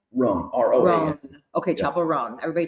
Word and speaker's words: Roan: Roan, R-O-A-N.